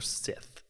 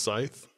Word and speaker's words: Sith: Neither Mandalorian nor Sith. Not without stealing it. Yeah. It's not pronounced scythe. Sith. Sith.